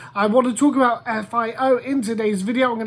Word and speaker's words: FIO: about a project called fio or fio now vo fio f i o i'm gonna go with fio i think that that's probably how it's meant to be pronounced fire is a project